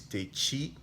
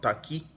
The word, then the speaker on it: Takyi: Well, first of all, the last name is Takyi, Takyi, pronounced Takyi, not Taki.